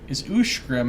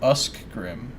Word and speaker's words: Ushgrim: Ushgrim is pronounced Ushgrim and not Uskgrim. Ushgrim.